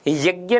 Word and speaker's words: यज्ञ: हाँ, यज्ञ नहीं होगा, यज्ञ होगा, शुद्ध उच्चारण जय होता है, लेकिन माना जाता है, जय को मान लेते हैं, लेकिन होता जय है।